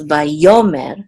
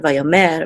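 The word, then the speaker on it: וַיֹּאמֶר: on the second syllable so it's by yomer not via mer but that's what these trope marks do among other things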